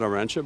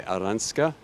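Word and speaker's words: Aranxta: On the left is Aranska Roos, not Arantxa, by the way, Aranska. We're trying to get the right pronunciation.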